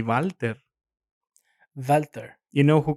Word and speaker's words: Walther: the firearm company yeah it's walter but it's a german country a german company in any case it would be walter walter you know who